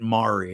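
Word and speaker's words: Mowery: They pronounced it Mari. And that's how they still pronounce it down there is Mari even though we spell it m o wer y.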